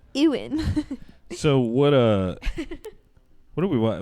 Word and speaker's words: Ewan: It's Ewan.